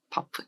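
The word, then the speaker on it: HBAF: H 바프, H는 묵음이야.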